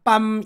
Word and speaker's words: 달밤: 두 번 나오잖아요 그런데 앞에 밤은 밤으로 발음 나지만 뒤에 달밤에 나오는 밤은 밤이 아니라 밤으로 발음 나죠 근데 이것을 비록 입밖에 에 나오는 소리는 빰 이렇게 다르지만 그게 실은 우리 머릿속에 저장된 형태는 그냥 밤이고 그게 주변 환경에 의해서 특별히이 경우는 바로 앞에 나오는 달이라는 단어 때문에 뺨으로 바뀐다 이것을 경음화 아는 의문 규칙으로